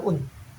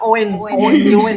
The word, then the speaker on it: Oen: Tulisannya itu kan OEN. Itu bacanya. Kalian kalau baca dimanapun kalau ada huruf OE itu bacanya U ya. Iya. Kadang-kadang orang penyiar TV aja kalau radio bacanya Owen gitu.